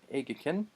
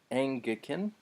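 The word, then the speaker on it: ἤγγικεν: Peplerotai, hakairos kai egikin. Let me try that pronunciation again. That gamma nasal makes a new sound. So angikin, hey basileia.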